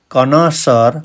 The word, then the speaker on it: connoisseur: and one thing more he is not a connoisseur of art first time you can see a